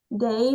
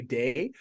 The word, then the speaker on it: Dai: I thought I'd better let you know that now because it's a weird Welsh name and it is pronounced Dai, even though a lot of people say Day.